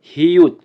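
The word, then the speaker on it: 히읗: আমরা শিখছিলাম young, young এর young উপরে আরেকটা স্ট্রোক আর একটা ছোট স্ট্রোক থাকবে, এটা হচ্ছে হিউত, হিউত, হিউত, হিউত। হিউতের উচ্চারণ হবে হ এবং ত এর মতো।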